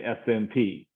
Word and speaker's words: SNP: U.S Marine Corps veteran I tend to pronounce terms as initialism like USMC and SNP so that's just my accent I have and if you're more fond of saying Snips and stirs then you know I